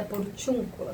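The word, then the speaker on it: Porciúncula: Cula, Santa Maria da por tiúncula se pronuncia assim, tá bem?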